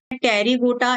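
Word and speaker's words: Pterygota: एक होता है टेरीगोटा, एक होता है अ टेरीगोटा। यहां पर पी साइलेंट होता है।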